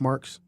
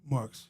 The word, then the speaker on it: Marx: So, your last name is pronounced Markx. Markx.